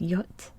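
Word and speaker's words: jot: like in english um this letter is actually pronounced yacht in lithuanian and it makes a ye sound um kind of like in the english word yippee yeah yeah yep ye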